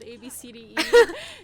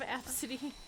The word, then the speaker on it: Abcde: an airline or whatever because the gate agent mispronounced her kid's name and like laughed because she said ABCDE instead of Absidy.